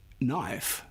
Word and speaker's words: knife: For example, we used to pronounce the K in knife as knife. Now we do not do that, but the spelling has stayed the same. Words like knife that kept their old